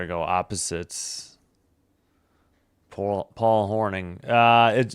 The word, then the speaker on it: Hornung: Paul Paul Horning. Uh, it it's spelled Hornung, but I knew what you meant.